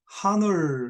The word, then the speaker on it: honor: H는 묵음입니다. 묵음. hour, 우리가 hour 그렇게 하지 않죠? 1 hour 그렇게 말해요. H는 묵음이에요. 이것도 honor 이렇게 쓰지 않죠? honor가 아니고 honor입니다. 그래서 H가 묵음이에요.